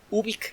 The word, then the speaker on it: Ubik: Ubik se escribe como suena, con U, con B grande, luego una I latina y luego una K. Ubik.